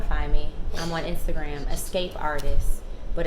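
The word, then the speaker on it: esqapeartist: me I'm on Instagram escape artist but Escape is spelled Esq because my initials are SQ so it's like a little play on phonetics why you yeah however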